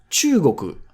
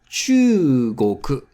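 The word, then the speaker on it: 中国: China is Chugoku. Chugoku. Chugoku. Be careful with the long vowel, chu.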